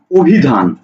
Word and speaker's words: অভিধান: তুমি একটা শব্দ লিখছো অভিধান তুমি কি লিখছো অভিধান তুমি একটা শব্দ লিখছো অভিধান কিন্তু এই অভিধানকে যখন তুমি উচ্চারণ করছো তুমি লিখছো অভি ধান লক্ষ্য করো তুমি কিন্তু এই অকে উচ্চারণ করছো ও এটা হচ্ছে উচ্চারিত রূপ